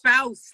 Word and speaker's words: Faust: How do you say her last name? Faust? Faust, like mouse.